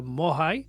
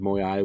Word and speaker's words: Moai: So Moya is actually the uh Easter Island statue uh a moicon that you have on your uh keyboard.